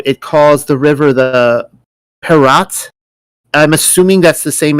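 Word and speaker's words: פרת: in the Hebrew it calls the river the Perat. I'm assuming that's the same as the Euphrates. I really don't know. I don't know. Yes, Yes, Okay. so that's a Prat. It's pronounced Prat, and in the Bible, it's always referred to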